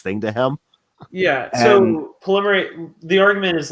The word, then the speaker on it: polymerase: How do you pronounce it, Leo? I don't quite know. Polymerase?